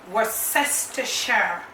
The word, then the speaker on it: Worcestershire: I use to our problem spoon it is worse s to share okay that is the white pronounce it's not just the share for me